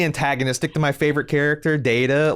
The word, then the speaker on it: Data: to my favorite character data like at least this one likes Spock you know what is he sounded like Fran Drescher I can't I can't man she kept she pronounced data's name Dada like is that is that